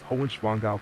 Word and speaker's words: Hohenschwangau: Yes, that is Hohenschwangau Castle. Pronunciation slow and clear. Break it down gently. Hoch, like go, but with an H in front. And soft, quick. Schwan, blend of schieß Schwan. Gau, like cow, but with a G.